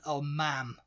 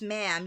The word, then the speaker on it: ma'am: But then the way we pronounce ma'am, yes ma'am, no ma'am. M-A''A''M. You guys pronounce it like mom.